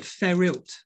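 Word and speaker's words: Fferyllt: There's a funny word, Ferilt, and it's spelled F-F-E-R-Y-L-L-T, Ferilt.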